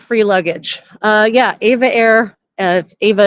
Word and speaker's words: EVA: Yeah, Ava Air, Ava is spelled EVA, just so everyone knows.